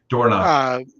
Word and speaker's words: Dornoch: Derek is alive to Dornoch, however you pronounce it. Dornoch. It's definitely not. If you look at how it's spelled, there's no way that's Dornoch. That's what the owner said the last race. That's how it's pronounced. He can say whatever he wants. English language says it's not. Well, that's what he's saying. It's Dornoch. Yeah. So we'll go with that.